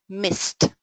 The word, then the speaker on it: missed: on purpose because uh it's connected with the pronunciation of the past form of verbs like miss right uh we tend we poles we tend to um say it fully uh although we to contract this form and we should say missed.